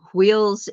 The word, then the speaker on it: hweol: In a Nordic construct, instead of chakras, we have wheels, and it's spelled HWEOL, wheel, Mhm. even though it's pronounced Mhm. wheel, wheels.